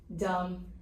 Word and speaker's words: dumb: Dumb. Why is dumb irregular, Kinsley? Because the B is silent.